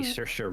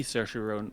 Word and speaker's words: Saoirse: It's an Irish name, so it's definitely not how it sounds.